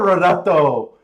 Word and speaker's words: Renato: Roll that R. Renato. Is that better? Renato. Say his name for us, Kiki. You can roll those R's.